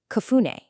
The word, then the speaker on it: cafuné: The word is pronounced kune.